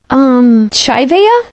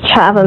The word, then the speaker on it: Chava: Chaivea? It's pronounced Chava, miss.